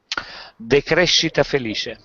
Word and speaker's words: decrescita felice: Decrescita felice.